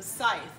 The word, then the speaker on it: scythe: I had to look it up how to pronounce it but it's a scythe different from a sickle a sickle is shorter